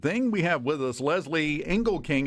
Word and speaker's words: Lezli Engelking: We have with us Lezli Engelking. Am I pronouncing that right? Perfectly.